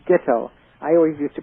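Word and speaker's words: Guettel: And Adam, I understand his name is pronounced Gittel. I always used to pronounce it Guttel, the way it's spelled.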